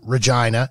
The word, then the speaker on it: Regina: We were living in Regina, and it is pronounced that way, in Saskatchewan.